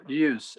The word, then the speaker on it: Ljus: Now, how do you pronounce that? LJUS. LJUS. From Uh, from Africa. Is it music from Africa? use light of Africa.